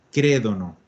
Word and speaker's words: credono: Io credo, tu credi, lui crede, lei crede, noi crediamo, voi credete, loro crédono. Excelente, bien pronunciado también el acento, porque dijimos que no puede cargar al final, solo nos queda crédono.